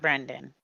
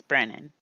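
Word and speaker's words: Brennen: too bad but yes my name is spelled brennan b-r-e-n-n-e-n eduardo it's not brendan it's brennan well so dragon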